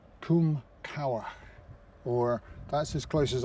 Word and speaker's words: Cywarch: It's Cywarch, and apparently it's pronounced as Cywarch, Cwm Cywarch, or that's as close as I can get to what he said.